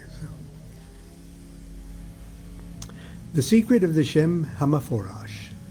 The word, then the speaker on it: Shem HaMephorash: Okay, so the secret of the Shem HaMephorash. That's how Regardi pronounced it. And he was Ashkenazi Jew. Shem HaMephorash is how he pronounced it.